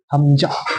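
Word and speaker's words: همزة: হামজা, হামজা, এটা কি হবে উচ্চারণ দেখো?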